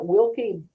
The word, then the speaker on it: Wilke: So we are going to talk with our very accomplished amazing guest Christina Wilky um Burbach. Am I pronouncing that?